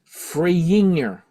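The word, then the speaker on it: Frejinger: Martin Freyinger. There's no J pronunciation in Swedish.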